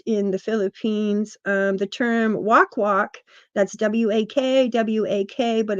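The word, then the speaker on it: wakwak: uh main part in the Philippines the term walk walk that's w-a-k-w-a-k but it's pronounced walk is associated with the Aswang the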